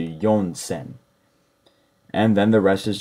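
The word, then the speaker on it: 四千: continue again with yonsen I've never heard she sen in my life I would definitely stick to yonsen and then the rest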